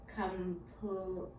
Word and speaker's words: complete: when I say that word, complete, I don't hear this last E. It's this one that's saying its own name. That's because the E on the end is silent, and that's what we called our sneaky E.